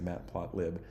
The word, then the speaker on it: matplotlib: project it's a library called matplot lib or Matt plot Li probably is the correct correct way to say that but I think most people say Matt plot lib this is um a